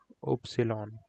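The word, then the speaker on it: Ypsilon: Y is a little bit awkward Y is pronounced as opsilon I know it's handful but that's what it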